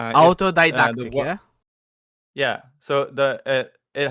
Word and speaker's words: autodidactic: So, it's pronounced autodidactic. Uh autodidactic.